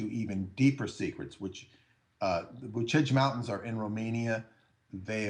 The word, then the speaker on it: Bucegi: spelled Bucegi, but Bucegi is how they would say it in Romania, and Bucegi, and where